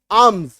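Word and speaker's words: alms: ALM है ना, एम से पहले एल है, काट दीजिए इसको, आप पढ़िए आर्म्स, है ना, इसका उच्चारण क्या होता है आर्म्स।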